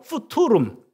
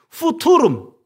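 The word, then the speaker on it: futurum: 푸투룸 틀렸어요. 제대로 발음하세요. 푸토룸. 예. fum 그대로 읽습니다. 라틴은 그대로 읽어요.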